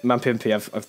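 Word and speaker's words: Mapimpi: That's it, Mampimpy. There we go. What a name! You pronounced it.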